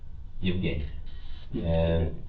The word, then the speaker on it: Yevheniia: And how do you pronounce her name exactly? Yevenhia.